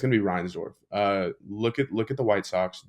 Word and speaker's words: Reinsdorf: Reinsdorf? Perfect, perfect. Sorry, I just had to make sure I knew ball for a minute. But yeah, if you're gonna shit on anybody here, it's gonna be Reinsdorf.